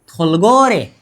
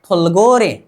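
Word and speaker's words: 돌고래: मतलब अब इसका ग होनी चाहिए, ग प्लस ओ, गो। र प्लस ए, रे। थुलगोरे। क्या? थुलगोरे। क्या करनी चाहिए? थुलगोरे का मतलब होता है डल्फिन।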